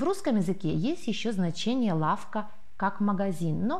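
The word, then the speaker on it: ławka: Здесь разница только в произношении первого звука «ły». По-польски это «лавка», по-русски «лавка». Больше разницы в произношении нет.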